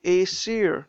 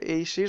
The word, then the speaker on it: Aesir: is the Cape of Aesir. That's how I pronounce it. I don't know if you pronounce it the same way, but Aesir, the Cape of Aesir.